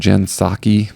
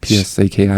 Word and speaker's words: Psaki: Jen Psaki, Psaki, is that how you pronounce it?